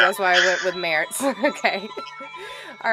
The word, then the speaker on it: Merz: The German pronunciation is Merz, but my family says Merz for some Oh, reason.